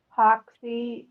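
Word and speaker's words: Hoxie: Hawky, Arkansas. Spell that.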